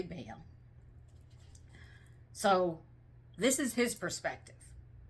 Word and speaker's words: Baal: Some people pronounce it differently. I say Baal.